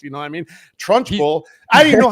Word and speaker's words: Trunchbull: Trunchbull. I didn't know how to pronounce it. I was like Suedo down there, fucking like, I was like trunk H bully.